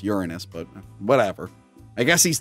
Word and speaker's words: Uranus: lifetime of trouble well the smartest person in the world should know it's pronounced Uranus but whatever I guess